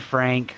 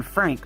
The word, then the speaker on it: Frank: here we got we we pronounce an we pronounce it as an Frank like you probably know the stories of Anne Frank and Dr Frank and thing so it's not pronounced in Frank that's the American pronunciation it's on Fran mhm